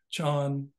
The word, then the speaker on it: Chan: Chan is the Chinese pronunciation that of the same phenomenon that we know as Zen, because it was called Chan in China where it was invented, and then when it